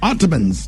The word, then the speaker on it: Ottoman: It's Ottoman. Ottomans. That's what I said. It's Ottoman. You just kind of let it flow. You do Ottoman. You break them down in three syllables.